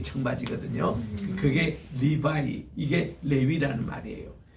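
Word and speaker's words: לוי: 이건 하나님이 들으셨다 뜻이고, 세 번째는 레위. 이제 우리는 레위라고 이제 발음하잖아요. 그게 그대로 히브리 발음입니다.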